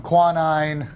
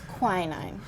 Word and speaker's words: quinine: i said earlier with the um quanine uh that makes tonic tonic it's quinine quinine there we go the quinine this is